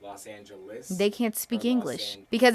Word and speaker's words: Los Angeles: You notice nobody says it with an E. They say it like us or is. They're mispronouncing it. Los Angeles.